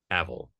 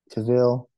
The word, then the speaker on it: Cavill: Cavill. Cavill is how he pronounces it. Does he? Like, I'm pretty sure yes. It's Cavill. No, he I'm does. Pretty sure it's Cavill. Yeah.